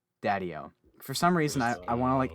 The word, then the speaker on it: Daddio: last name so i don't emphasize the wrong syllables daddyo daddyo for some reason i want to like emphasize